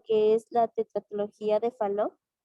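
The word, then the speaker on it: Fallot: es principalmente lo que es la tecnología de falo y así se pronuncia decían que la tecnología de faldo presentaba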